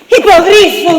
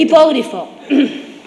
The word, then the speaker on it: hipogrifo: Hipogrifo violento. Hipógrifo. Es hipogrifo. Hipógrifo. El director, lo has contratado, lo siento. No, culpa tuya. es hipogrifo, con acento en la I. ¿En qué I? En la segunda I.